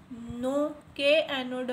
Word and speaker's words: know: address organ help purpose not known1 नो इसमें के silent-silent आप इसको नो अबाउट